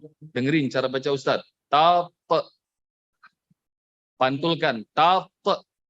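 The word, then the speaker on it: تطغوا: Dengerin cara baca Ustaz. Pantulkan. Tatghaw. Tatghaw.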